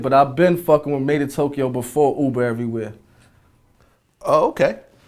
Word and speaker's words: MadeinTYO: How do you pronounce it? Is it MadeinTYO? Nah, MadeinTYO.